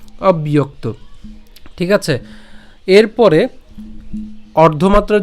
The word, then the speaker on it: অব্যক্ত: তাহলে সব ইয়ো তাহলে এই জ ফলের উচ্চারণ যেহেতু ইয়র মত হবে তাহলে ইয় এবং তার সাথে এখানে একটু খেয়াল করুন এখানে যুক্তবর্ণ রয়েছে ক এবং ত ঠিক আছে তাহলে আমরা ইয়োক পর্যন্ত যদি উচ্চারণ করি হ্যাঁ এখানে ইয়ক ইয়ক এবং তারপরে কি থাকে ত ঠিক আছে ইয়োক আশা করি এতটুকু পর্যন্ত আপনারা বুঝছেন আমি আবার বলছি অবয়ক্ত তো এটা অবশ্যই আমরা একসাথে উচ্চারণ করব একসাথে উচ্চারণ করলে উচ্চারণটি কেমন হবে অব্যয়ক্ত ঠিক আছে এরপরে অর্ধমাত্রার